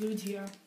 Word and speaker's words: Lugia: and the rare a Lugia EX full art so that was a awesome pull actually guys check this out pretty sure it's pronounced Lugia no it's Lugia so um there you